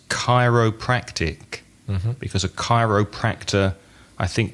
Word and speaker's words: chiropractic: The next one begins with a CH, but I know that it's a K sound. It's chiropractic, because a chiropractor, I think, works on your back, doesn't he?